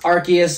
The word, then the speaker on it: Arceus: So, yeah, and for all you guys that don't know, Legends Arceus, it is pronounced Arceus according to the Pokemon Wikipedia, because in parentheses it says Arceus.